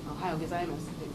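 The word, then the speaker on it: おはようございます: And they know that sometimes the vowels aren't, like in Ohio Gozaimasu, you don't hear that U at the end, but it's there, it's written there.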